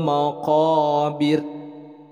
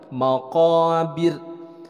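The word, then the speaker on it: المقابر: Nah, diperhatikan di ujung kalimatnya, di sini ada ra diwakafkan dan sebelumnya berharokat kasrah. Nah, ini adalah hukumnya tarkik, dibacanya tipis. Jadi bukan maqabir, tapi dibacanya maqabir, tipis dibacanya. Baik, kita akan baca bareng-bareng untuk ayat yang kedua.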